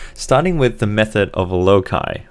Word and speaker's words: loci: with the method of loci or if you're American low sigh so this is a